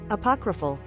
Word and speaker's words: apocryphal: Apocryphal. All right. These are always educational streams. You pronounced it correctly.